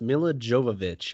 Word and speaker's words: Milla Jovovich: last name uh it's it's pronounced Milla Jovovich I don't seeing that right I've always had